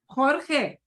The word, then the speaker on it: Jorge: to look at this here's the name George Jorge Jorge organ Jorge ous okay yeah that's hard